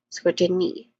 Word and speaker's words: scrutiny: a short short not short but a long oo vowel sound and then followed by t which is awah sound scrutiny. That's the last syllable. It has a long e vowel sound.